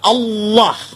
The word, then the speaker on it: Allah: Kalau kita cukup Allah gitu kayak bercanda sama teman aja. Allah lu gitu aja tersinggung gitu ya. Kayak begitu ringan gitu bacanya itu ringan. Tapi kalau mereka itu terpengaruh dengan bahasa Arab jadi enggak ringan.